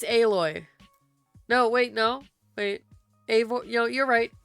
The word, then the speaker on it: Aloy: Oh, I know why I keep thinking Aore. Aore is the main character of Horizon Zero Zero Dawn. Oh, you don't mean Aloy? Yeah, it's Aloy.